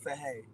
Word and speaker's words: Chaii: How you doing today, Chaii? I'm doing good. It's by the way, it's pronounced Chaii. Chaii? Yeah, Chaii. Like say hey, say hey.